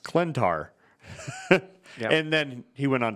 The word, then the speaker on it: Klyntar: donnie case went to twitter and said it's pronounced clentar and then he went on to clarify that